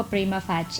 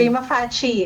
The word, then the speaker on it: prima facie: Prima fai or iba-iba kasi 'yung pag-pronounce nito at prima alam ko prima fatch prima fach 'di ba?